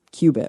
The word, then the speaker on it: qubit: Obviously, I don't really know enough here, but okay, it's pronounced qubit, right? Qubit, yeah.